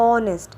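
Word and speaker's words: honest: ऑनेस्ट इसमें एच तो बोल ही नहीं रही हूं। एच तो साइलेंट है। तो ओ ओ कर रही हूं।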